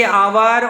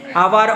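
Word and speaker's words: hour: जैसे कि आवर honourable इनको अ से शुरू करके हम पढ़ते हैं। इसमें एच एच को साइलेंट मानते हैं। इसलिए अ ओ ये वर्ड ये आते हैं यहां पर ध्वनि में। आवर honourable.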